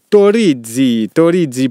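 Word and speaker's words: Torrisi: Stefano Torizi pour la prononciation, pour qu'elle soit parfaite.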